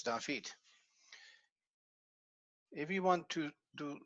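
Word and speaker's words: דוד: This one is stressed because it is at the end of a word. The last syllable in a word is stressed, so we don't have the extra marker.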